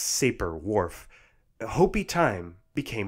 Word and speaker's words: Sapir: These claims, from weak to strong, got the nickname Sapir-Whorf, which I often hear pronounced Sapir-Whorf.